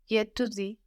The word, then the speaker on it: j'étudie: J'étudie. J'étudie, j'étudie. So je and étudie blend together. J'étudie. And this is spelled E-T-U-D-I-E. But of course it just sounds like étudier without the E ending.